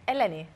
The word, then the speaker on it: Eleni: Eleni. Eleni. Yeah, emphasis on the second E.